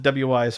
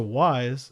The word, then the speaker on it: Wwise: I called it WWise forever, and then I watched one of their tutorial videos, and they were like, "So welcome to Wise," and I was like, "Oh, I'm saying it wrong."